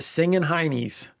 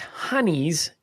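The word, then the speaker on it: Singin' Hinnies: Now it's pronounced honeys in Northeast England, but nobody cares about the Northeast Englanders. But that's where it comes from? It comes from Britain, Okay. but the Northeast Englanders pronounce it as honey, but those people are always ruining the fun.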